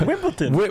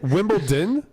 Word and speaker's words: Wimbledon: me on air that it actually has a D in it you're better for it honestly sounded so happy like Wimbleton wimble Wimbledon sounds like sounds like a 5-year-old mispronouncing wimble tin right hey Chris are